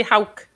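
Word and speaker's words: howk: does it mean how it's spelled h o w k but we say Hulk Hulk I don't ha I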